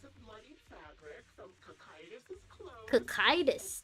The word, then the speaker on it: Cocytus: Cocytus. That's how you say it? Engineering gear. In my head, I was reading it as Cositus.